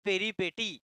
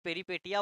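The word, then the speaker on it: peripeteia: তো ভাগ্য ফেরাটাকে এই লিটারেচার ভাষা বলা হবে পেরিপেটি, বানানটা পেরিপেটিয়া, বাট পেরিপেটিয়া বলবো না, পেরিপেটি বলবো, ঠিক আছে?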